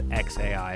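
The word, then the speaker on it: X Æ A-12: Pronounces the name XAA12. And Grimes refers to it as XAI.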